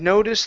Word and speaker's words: noticed: So, today she had noticed that grandma. Today she had no noticed that grandma. Okay. So, here you're saying noticed. Okay. So, take out that e sound. Instead of noticed, it's noticed.